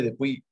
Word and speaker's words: depuis: En el caso de igual de depuis, no se pronuncia la S, Ujú. no se hace la unión si luego toca la vocal, depuis, non, Non, exactement.